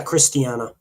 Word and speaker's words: Christiana: I think, is that the way you pronounce her name? Christiana? Yeah, Christiana.